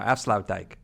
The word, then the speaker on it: Afsluitdijk: How did I pronounce it right now? Afsluitdijk. Yeah, that was pretty good.